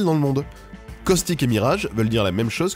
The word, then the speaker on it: Mirage: Et Mirage, c'est un de ces mots français qui existent en anglais et qui se prononce comme en français. Enfin, comme un anglais qui prononce des mots français.